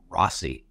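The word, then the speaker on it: Rozzi: i r Oz zi I guess he pronounces it Rossi even though it's in Z really anyway the judge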